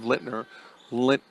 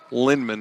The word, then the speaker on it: Lynman: Harms over to 25 Lner Lint. I said her name wrong, did I not? Lynman, I'm so sorry.